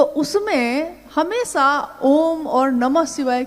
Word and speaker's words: ओम: दी जो प्रकट हुई उस ध्वनि की आवाज थी आ ओ म अगर एक साथ सुना जाए उसको तो उसकी आवाज गूंजती हुई ऐसी है जैसे हम बोलते हैं या उच्चारण करते हैं तो हम कहते हैं ओम है वह अ उ